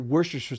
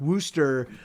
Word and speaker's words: Worcestershire: like because i i i was raised pronouncing it worcestershire sauce like kind of like wooster wooster in in massachusetts you know like but